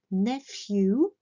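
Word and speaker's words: nephew: fui ou le neveu attention à la prononciation de ses dernières lettres nef you in heels la nièce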